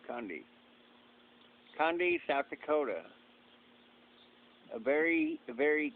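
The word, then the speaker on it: Conde: Condi. That's how they say it too, Condi.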